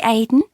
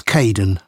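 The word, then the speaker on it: Kaeden: hello Charlotte I'm Kaden one of the supervisors welcome to the team hi Aiden uh it's Kaden I'm so sorry don't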